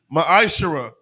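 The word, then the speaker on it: מעשר: means 10th in the Hebrew it's pronounced maishara 10 of every penny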